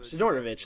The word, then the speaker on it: Sidorovich: can't believe we can talk to Sid okay sidorovich sidorovich there we go I can't believe I couldn't pronounce his name okay so basically he wants